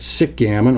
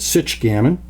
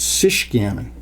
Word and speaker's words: Sichgammon: or nauseated so please pronounce the ch as you would in the word checker making it sich gammon or as you would in chicago or michigan or schuette which would make it sish gammon now between those two